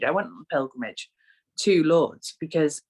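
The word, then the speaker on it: Lourdes: wrong this whole time i always say lord ace but it's lords it's just lords yeah lords oh my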